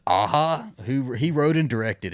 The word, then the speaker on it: Aja: it is directed by alexander ah i didn't know how to say his last name i was i've been saying it my whole life aja and i guess it's aha who he wrote and